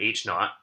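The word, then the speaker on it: H₀: so here i've said h naught h sub zero we pronounce that h naught and i've said mu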